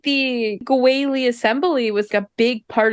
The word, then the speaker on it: Guili: Guili is their power couple name. Yeah. Yeah, it's the first syllable of Guizhong and the last syllable of Zhongli.